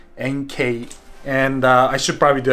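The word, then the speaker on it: Enkei: and by the way I keep saying Enki but that's how I'm making is pronounced a it's actually NK and I should probably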